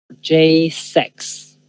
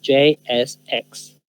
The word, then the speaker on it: JSX: Y cuando digan rápido van a decir JSX. JSEX. J6. Sí. Generalmente van a escuchar que digan JSEX. J6. JSEX. Pero la pronunciación correcta es JSX.